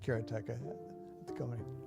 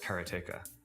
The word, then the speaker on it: Karateka: Uh there's no stress on any syllable, so it would be karate, something like that. I called it kerateka, but I've since found out that pretty much everybody pronounced it differently.